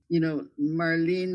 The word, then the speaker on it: Marlene: I mean, her name was Marlene and she used to pronounce it, Marlene like Lenin.